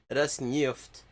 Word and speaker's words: Rosneft: Gazprom, Rosneft. Так произносится, и не иначе.